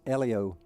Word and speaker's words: Helio: I never will forget, I introduced Helio Castroneves, and when I was standing beside him, he said it's Elio, not Elio. Helio, Elio.